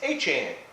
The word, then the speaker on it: Etienne: from jennings and like i hear people that are local from there it's like it's a chain i'm like it's easier